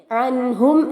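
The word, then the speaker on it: عنهم: ഉച്ചാരണം ശ്രദ്ധിക്കുക അഹ അവാലുഹും ഇവിടെ അൻഹും എന്ന വാക്കിലും അതുപോലെ അംവാലുഹും എന്ന വാക്കിലുമായി മൂന്ന് സുക്കൂനുള്ള മീമുകളെ കാണാം ഇവിടെയൊന്നും തന്നെ സുക്കൂനുള്ള മീമിനെ മണിക്കാൻ പാടില്ല ആ മീം അവിടെ വ്യക്തമായി കേൾക്കുകയും വേണം വലദുഹും ഇവിടെ വലാ എന്നലാ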